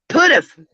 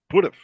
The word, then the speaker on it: PDF: Pudif. Pudif.